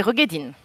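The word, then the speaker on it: Roegadyn: Ça se prononce comment ? Les Rogedine. Rogedine, ok.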